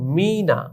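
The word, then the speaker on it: مینہ: ইয়ে নুন হে তো এই শব্দের শেষে যে হে বর্ণটি রয়েছে এ বর্ণটি উচ্চারণে আসছে কিনা আমরা উচ্চারণ করি মিনা। দেখো আমরা বাংলায় লিখেছি মদিকার মি ন আকার না আমরা কিন্তু শেষে হ আমরা লিখিনি মি না আমাদের মন চায় এটা বলতে কিন্তু মন চাইলেই হবে না এটা উচ্চারণ করতে ভুল তাহলে আমরা লেখা হে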